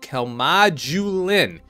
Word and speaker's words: Calmodulin: I looked it up there is a j sound in this particular part here and there is no J that annoys me about